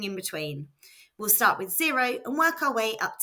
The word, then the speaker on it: cero: That's fo spelled c e r o and pronounced zero. Note the letter C followed by E or I is pronounced S.